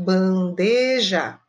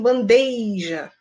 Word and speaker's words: bandeja: exemplos aqui bastante comuns a panela bandeja é o correto bandeja mas eu vejo muita gente falando assim bandeja bandeja essa colocação de um i no local que não existe é uma colocação incorreta tá então é um